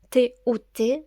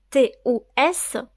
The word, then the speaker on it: tous: tout au masculin singulier T ou t se prononce tout au féminin singulier T ou T e se prononce toutes au masculin pluriel T ou s peut se prononcer tout ou tous nous allons voir au